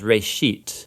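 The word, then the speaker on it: בראשית: Genesis comes from a Hebrew word uh it's pronounced RIT uh and it just means beginning now there's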